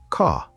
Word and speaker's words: car: Now, in American English, the R is very strong, very clear. Americans say, car. You can really hear that R sound.